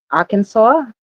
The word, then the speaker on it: Arkansas: know, so of course I'm gonna say Arkansas. Okay, I said it right, right? When you look at it, you just so want to say something else.